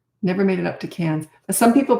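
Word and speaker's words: Cairns: Um but yeah, never made it up to Cans. Some people pronounce it Karens, but it's actually pronounced KS um in Northern Australia.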